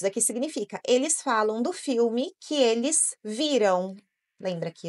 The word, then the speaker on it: film: gente pronuncia film não esse l não tem o som de o tem o som de L mesmo né você coloca a